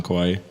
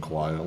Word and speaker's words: Kawhi: I think the Warriors put too much of their defensive focus on Kawhi. Because when you really... Kawhi. I literally, everybody says I pronounce his name wrong.